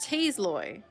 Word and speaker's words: Tasloi: off his back by a batch of poultry tasloid ah those what what are those hold on what are tasseloy it's pronounced taze Loy okay this is what do I need to